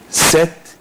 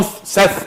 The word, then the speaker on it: Set: Set in the first place was pronounced Set or Seth? Set, there is no Seth in ancient Egypt.